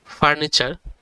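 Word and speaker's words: furniture: উচ্চারণ হচ্ছে ছয় এর মত আর একসাথে ওয়ার্ডটা উচ্চারণ করলে দাড়া হচ্ছে ফার্নিচার বাংলা অর্থ আসভাব পত্র দেন হচ্ছে চার নাম্বার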